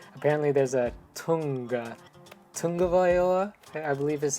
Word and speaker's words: Tagovailoa: Apparently there's a Tagovailoa, I believe is how you correctly pronounce his name.